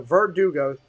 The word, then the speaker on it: Verdugo: i'm saying it right i get yelled at all the time for verdugo verdugo so it's kind of like an o so verdugo well at least i'll